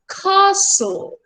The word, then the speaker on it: castle: English में जो letters का प्रोनाउंसिएशन पी टी के होता है उसमें वो castle, castle, हल्का सा ह ह ह का एस्पिरेशन आता है, इसलिए इसके और मेरे प्रोनाउंसिएशन में डिफरेंस है।